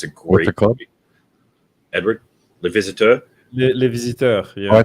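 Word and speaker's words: Les Visiteurs: You should watch the Renault movie that I mispronounced earlier. Edward corrected me. You should watch it. It's a great movie. Edward, Le Visiteur.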